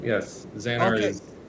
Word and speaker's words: Xanar: And you did pronounce the name right. Yes, Xanar Okay. is. It's an odd name. I agree. At first glance, I thought it was Xandar.